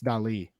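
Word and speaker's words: Dalí: It's Well, the Dali. I actually has an accent over it, Toby, so it's Dali.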